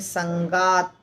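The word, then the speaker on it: सङ्गात्: बोल बो आसान होगा संगत संगत में त आधा है ध्यान रखिए त आधा है यानी संगत संगत संजत संगत संजत लगता है कि त है आधा पर जब बोलते हैं त के पास आकर रुकता है संगत संगत ऐसे संजत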